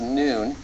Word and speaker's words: nun: the Hebrew alphabet is noon and it is the n Sound in Hebrew the n as in now or n and this